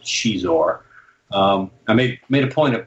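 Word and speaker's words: Xizor: Shizor was Lucy Wilson's creation, and the name comes from, I think the pronunciation came from Portuguese, because it's X-I-Z-O-R, and you look at that and have no idea how to pronounce it, but it's pronounced Shizor.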